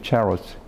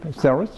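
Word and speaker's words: Ceres: In Italian, it's the pronunciation charos. But in English, ceros, or ceros. Cereal, ceros. And Bacchus, bid good night.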